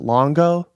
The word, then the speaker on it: Longo: we're live um how do you say your last name is it longo yeah correct cool i just want